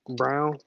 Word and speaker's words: Braun: No, it's pronounced Brown.